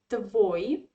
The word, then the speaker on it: твой: possessive pronoun yeah so in masculine you say the voi so here the same story as we had with that russian pronoun my ya so the stress is in the last syllable yeah so these all